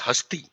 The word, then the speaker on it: Hastea: यहां पर हमने जो नाम दिया है उसका नाम प्रोनाउंस होता है हस्ती।